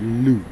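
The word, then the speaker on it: Lugh: Okay, named after the Gaelic god Lu, pronounced like you.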